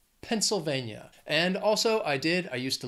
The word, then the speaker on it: Pennsylvania: It has four syllables, stresses on that third syllable. Pennsylvania. Pennsylvania.